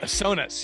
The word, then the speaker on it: Sonos: 28 years old so sonos i hope i'm saying that right sonas yes sona stoner sonus and he